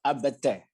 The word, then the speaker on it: arbeitet: Ihr arbeitet. This way. Ihr No. arbeitet. No. T. How do you pronounce it? You haven't pronounced the last letter.